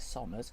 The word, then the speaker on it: Somers: I think you pronounce it Somers because it's S-O-M-E-R. Yes. It's not S-U-M.